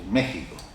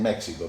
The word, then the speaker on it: México: Y entonces así como dicen nexaca o Axaca o Texas dicen México porque no saben decir México, pero en castellano es México y ella me dice no.